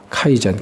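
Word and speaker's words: 改善: 개선은 토요타가 카이젠, 개선은 일본식 발음이라고 하네요.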